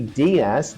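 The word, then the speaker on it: DIAAS: you can digest yes so I think the dasas the digestible indispensable amino acid squ did I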